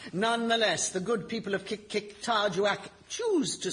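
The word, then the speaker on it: Qikiqtarjuaq: This week, Kikik-Tarjuak.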